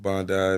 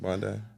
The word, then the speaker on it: Bondi: DJ anden um you know DJ lives in Bondi by the beach yeah that's how you say it right Bondi uh Bond Bondi if you wish you go